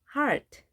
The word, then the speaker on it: heart: heart, heart. 이중 모음이지만 A 발음합니다. 그리고 R 발음을 정확하게 해주셔야 됩니다.